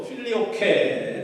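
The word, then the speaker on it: Filioque: 이것을 가지고 필리오크 논쟁이라고 합니다. 한국식 발음으로 필리오케 논쟁이라고 말하는데요.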